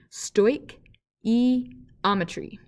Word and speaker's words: stoichiometry: relationship between all of the chemicals is what stoichiometry is all about and yes this is pronounced stoic e ometry and so stoichiometry uses the balanced coefficient or